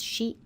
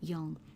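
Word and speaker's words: 四: Here's shi and yong. Now, the reason for that is simply that the number derived from the Chinese word for 4, and that's shi, has the same sound as the word for death.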